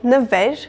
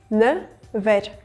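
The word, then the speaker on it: նվեր: Never, this word means present, and I have got a consonant cluster in the beginning of the word, never. So, ne, v. In order for me to pronounce this word, I'm going to add a between ne and v. So, I'm ending up having 2 syllables, ne, ver, never.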